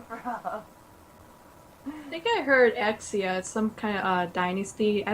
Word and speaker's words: Xia: proper all right so is it Zia or is it exia exia exia oh wow that's the way I that's the way I pronounced it but many many people say Z rose with Z wow okay so I